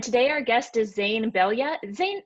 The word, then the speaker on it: Belyea: our guest is zane belya zayn is that how you pronounce your last name it's close enough bellier believe my last name